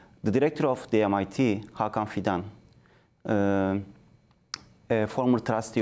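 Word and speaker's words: MİT: We call it in Turkey MIT, literally MIT, pronounced as MIT. The director of the MIT, Hakan Fidan, a former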